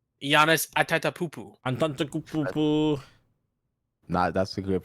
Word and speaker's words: Giannis: said y oh but he did not say yanis that's a great pronunciation of the last name by the way